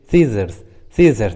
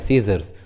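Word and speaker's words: scissors: जैसे सीजर्स, देखिए English word में एस और सी एक साथ आए हैं, इसलिए सी का उच्चारण नहीं हुआ है, सीजर्स।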